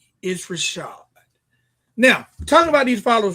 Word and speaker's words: ItsRvshvd: And it's at It's Rashad, but it's spelled ITSRVSHVD. It's Rashad.